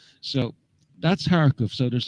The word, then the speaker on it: Kharkiv: But I've come to learn that it's actually pronounced Kharkov. So that's Kharkov.